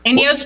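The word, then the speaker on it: INEOS: I like it all right so did I pronounce it right inos yes inos Grenadier is the name of the vehicle inos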